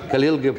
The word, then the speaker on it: Khalil Gibran: is how do you pronounce this? Khalil? Khalil. Khalil Gibran.